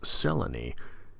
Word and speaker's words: Selene: There's a Moon Lady named Selene, pronounced Selene, and she does not hate Dennison, which surprises her.